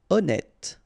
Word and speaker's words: honnête: Honnête, so remember, H doesn't exist, honnête.